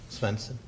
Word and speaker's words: Svensson: Am I pronouncing that correctly? Svensson? Yes. Okay. Scandinavian? Yes.